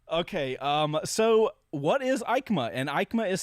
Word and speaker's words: EICMA: right so aikma okay um so what is ikema and ikema is spelled as you guys if you're watching you